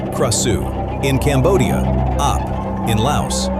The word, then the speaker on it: Krasue: In Thai, she is called Krasue, pronounced Krasue.